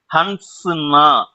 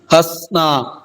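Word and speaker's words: हँसना: கிடையாது அப்படின்றத ஈஸயா கண்டுபிடிச்சிருவாங்க இதுக்கு உச்சரிப்பு எப்படி கொடுக்கணும்னா நடுவுல இருக்க என் வந்து சைலன்ட் லெட்டராதான் இருக்கணும்னா சிரிடா அப்படின்னு சொல்றதுக்கு ஹசோ ஹசோ எங்கேயுமே என்னுடைய உச்சரிப்புல நடுவுல அந்த என் சவுண்டே வந்துருக்காது ஏன்னா அது சைலன்ட் லெட்டர் மறுபடியும் படிச்சு காட்டுங்க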